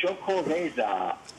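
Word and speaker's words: Xocoveza: have another beer called choco you have to say you have to you have to pronounce it brightly like that uh it has it begins with an x it's x-o-c-o-e-e-z-a but they have a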